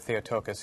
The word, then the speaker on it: Theotokos: You gotta, you know, he was saying you gotta say it like this, Theotokos.